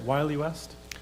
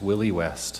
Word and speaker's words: Willie: Point of order, is it Wiley West? Oh, thank you. It's Willie West. Thank you. Because the fellow that it's named after, his name was William. So yes, Willie, and it's spelled Willie.